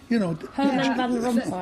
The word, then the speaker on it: Herman van Rompuy: Herman van Rompuy.